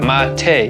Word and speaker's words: mate: drink i'm talking about mate yes that's how you say it mate one of the most